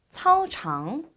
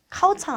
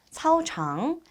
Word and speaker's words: 操场: 그러면 그는 타 운동장에서 우리 짜이를 넣어서 짜이 차오창 차오창 역시 발음 주의해 주셔야 되는데요. 카오창 아니죠. 차오창.